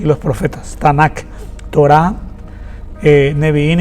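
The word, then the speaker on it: Tanakh: Eh, es un abreviado TNK que más adelante se le colocó un vocales, en este caso la A, donde se pronuncia Tanac, que significa Torá, neviín y ketubín.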